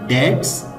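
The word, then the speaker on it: debt: English में कहेंगे external dates are piling up. कर्जे को इंग्लिश में डेट कहते हैं, इसमें जो बा साउंड है वो साइलेंट है, तो कर्जे को इंग्लिश में डेट प्रोनाउंस करते हैं।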